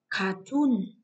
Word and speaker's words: cartoon: Cartoon, cartoon là trọng âm rơi vào âm tiết thứ hai.